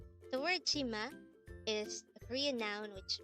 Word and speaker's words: 치마: see raise the voice T and sexual boy is ma pronounce it to me Chima the word Chima is a Korean noun which means skirt again